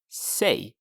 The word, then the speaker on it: sig: himself, you would say sig. Sig. Is it interesting? It sounds like say in English, but it's spelled S-I-G and it's pronounced sig. Sig.